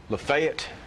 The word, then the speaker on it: Lafayette: Um Lefayet, Tennessee instead of Lafayette.